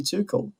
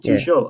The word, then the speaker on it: Tuchel: name and so oh it's actually too cold not too short i thought it was too initially i had called it two shells so yeah surprise and